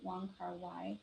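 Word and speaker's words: Wong Kar: It's by Wong Car, that's how you say his name.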